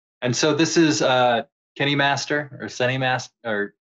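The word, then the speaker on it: KineMaster: way to pronounce this I'm gonna say Kenny Master because it's kind of like cine like you know like cinema or but Kenny or kind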